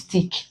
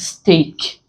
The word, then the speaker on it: steak: Sometimes some people call this stick, but it's actually pronounced steak.